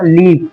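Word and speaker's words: leave: ये रूल ये बता रहा है कि जब भी वर्ड में ई और ए साथ में आए तो हम ई को पढ़ेंगे और ए को साइलेंट कर देंगे, यानी ए नहीं पढ़ा जाएगा, ए लिखा जाएगा मगर पढ़ा नहीं जाएगा।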